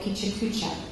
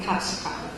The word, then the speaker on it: Pecha Kucha: very fast concise manner they they called it picha cucha and I I stand by my pronunciation because Carlton wall chipo who speaks Japanese told us that was how it was pronounced uh other folks say pakak but either way it's a lot of fun